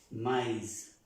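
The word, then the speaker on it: maïs: una y normal por eso esta palabra se pronuncia mais my my si no tuviera la extrema se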